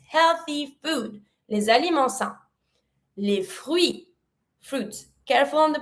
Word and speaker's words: fruits: We do not really pronounce the same way as what we do in English. In English, you don't pronounce the I. In French, we do. So we go from fruits to les fruits, les fruits.